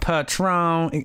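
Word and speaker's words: Patrón: Patron.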